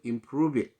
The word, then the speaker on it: improved: 그 공통점인 게 뭐냐면 여기서 improved 했을 때 우리는 D라는 발음을 자꾸 하려고 애를 씁니다. 이민자들 또 여기 본 원어민이 아니면은 improved 하고 D를 꼭 발음을 하려고 해요. 왜? 버릇이 안 됐기 때문에. 근데 제가 또 항상 말씀드리지만 여기서 D나 T는 미국인들은 원어민들은 무성음으로 처리할 때가 굉장히 많습니다. 무성음으로. 그래서 improve 그냥 D는 들리랑 말락 이렇게 발음을 합니다.